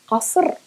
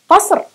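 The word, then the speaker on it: قصر: We need just to pronounce it from the back of the throat, just a simple K from the back of the throat, and you're okay.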